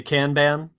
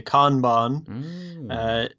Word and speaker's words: Kanban: British English would say Kanban and the the proper Japanese pronunciation I think is Kanban very staccato but nobody nobody nobody